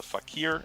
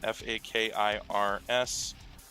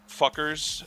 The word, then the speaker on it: Fakirs: It's called the Fakir, F-A-K-I-R-S. I hope that it's not pronounced fuckers. I think it's Fakir or Fakirs.